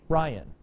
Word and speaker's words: Ryan: Accented to unacented, you have two syllables, accented to unacented. Ryan, Ryan's name is troic. Troic is an adjective describing the meter of his name. Accented to unacented, it's Ryan, not Ryan. You hear the difference?